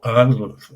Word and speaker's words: Al-Andalus: But they would say Al-Andalus. So it's just run the whole Al-Andalus. You don't even hear the D.